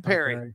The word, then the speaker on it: Calipari: Calipari. Here's the deal. I'm going Perry. Well, I've heard Pari and Perry. We've heard them both. We've heard them both. Well, you have, but Perry's correct.